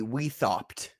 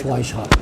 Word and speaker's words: Weishaupt: You're referring to the guy where if you were to read it phonetically, it'd be Weithaupt, correct? Weishaupt? Adam Weithaupt. Yeah, it's Weishaupt.